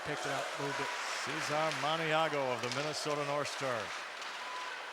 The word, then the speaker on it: Cesare Maniago: by Art Fleming, that Cesar Maniago's name was in an answer. Only Art Fleming pronounced it Cesare Maniago.